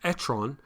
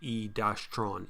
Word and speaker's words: e-tron: but has been watching the grand tour because etron which is the french word for turd and that is true uh but it's not spelt quite the same it depends how pronounced it's actually e-tron e-tron is how to but it's a funnier